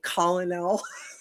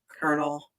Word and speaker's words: colonel: So I was saying colonel. I was saying colonel for the longest time, Really? and finally someone's like colonel, and I'm like, wait, what? Like That's corn?